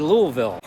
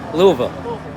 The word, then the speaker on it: Louisville: Louisville oh my gosh I tried to say it like the locals I said Louisville but Louisville okay cool and you can